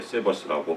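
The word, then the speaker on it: Sabbath: 구약성경에 쉼 안식이란 말 히브리어로 사바스입니다 사바스 영어도 똑같은 말이 있어요 세버스라고 발음이 약간 다르죠 우리 바울이한테 혹시 제가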